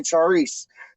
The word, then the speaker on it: chorizo: perry perry chicken and chorizo sausage or whatever they don't even say chorizo die they just say charisse you know what i